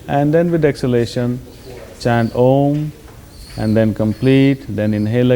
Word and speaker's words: Om: But for instance, we will practice this mantra chanting with using the sound of om which is three syllables a u and m.